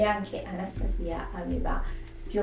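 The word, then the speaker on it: Anastasija: migliori amiche Una certa Anastasia o come si dovrebbe pronunciare Anastasia trova o trova si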